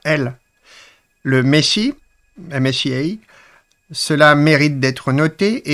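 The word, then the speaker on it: MSIA: pour l'éveil spirituel intérieur on prononce en fait Messi.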